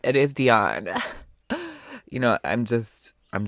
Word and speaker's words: Dionne: Actually, let me make sure I'm pronouncing this right. I will be right back. I was right. It is Dion.